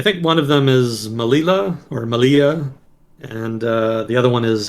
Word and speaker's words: Melilla: Normally in Spanish, two L's is supposed to be pronounced as a Y. Yeah. Oh, yeah, there it is. Yeah, Melilla.